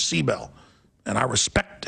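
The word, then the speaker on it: Sibel: seabel that that she says that's how you pronounce it not sael she says seel and I respect how she wants it pronunciated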